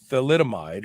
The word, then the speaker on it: thalidomide: drug that caused thalidomide it's actually a th it's i i'm almost positive it's not p it's th let's see here let's see t h a l mine so it's spelled t h a l i d o m i e and that is the drug it's called thalidomide uh was for morning